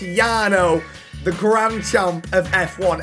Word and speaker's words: Jarno: grand champion of F1 it looks like Jano but apparently it's pronounced Yano the grand jump of